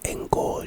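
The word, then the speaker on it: Engorgio: big facts the next spell is engio enio pronunciation enio o n Go o it's a charm spell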